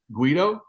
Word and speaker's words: Guido: like it all right cool you also you pronounce it correctly Guido yeah that you pronounce it correctly some people